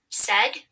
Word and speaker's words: said: S is spelled with the letter S. E is spelled with 2 letters, A and I. D is spelled with the letter D. S-e-d. S-A-I-D. Said.